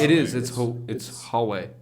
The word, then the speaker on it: Huawei: I don't, it's not two syllables. Huawei. It is. It's- It's Huawei.